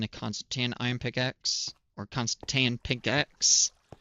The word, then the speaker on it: Constantan: Constan iron pickaxe or Constantan pickaxe. Constantan. Yes, I pronounced that right.